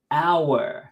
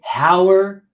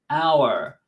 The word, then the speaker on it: hour: In the word hour, H is silent. Hour. You don't say hour. No, it's hour.